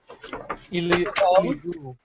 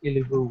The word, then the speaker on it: Ilibu: Oh, Ilibu. It's the French Creole, so it's Ilibu.